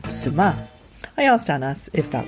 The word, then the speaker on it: sumac: It's suma, the emphasis on the second syllable, and you're not pronouncing the C. So no more are we going to talk about sumac.